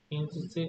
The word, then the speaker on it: interesting: Interesting. And T is silent, okay? Don't pronounce the T.